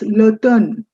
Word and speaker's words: l'automne: It's l'automne. M is completely silent.